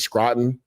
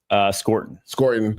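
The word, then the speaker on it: Scourton: Texas A&M, Nick's, how do you say it, Scranton? Scorton.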